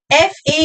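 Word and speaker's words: faux pas: The next term is for F A U X P A S F A U X P A S X is silent. S is silent.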